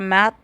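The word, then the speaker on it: מְתֵי: Hombre es la palabra mat, así es como se pronuncia, que es un hombre masculino, ¿ok?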